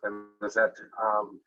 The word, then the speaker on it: Benezet: The first of these three figures is Anthony Benezet, or sometimes pronounced Benezet, the French pronunciation being former, of course, anglicized perhaps as Benezet.